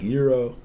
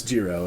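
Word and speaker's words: gyro: man here i am out here being like euro hey man it's it's a pretty common thing but yeah apparently according to these guys it's jiro and uh i think my folks who have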